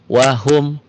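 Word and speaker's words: وَهُمْ: Wahum fiha wahum. Jadi jangan wahum fiha, jangan. Ya, jangan ditahan. Ya, di sini dilepas. Wahum, idhar itu jelas. Jelas apanya? Jelas bunyi mimnya.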